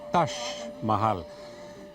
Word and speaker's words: Taj Mahal: El Taj Mahal, pronunciado aquí Taj Mahal, y que significa literalmente Palacio de la Corona, aunque este no es un palacio.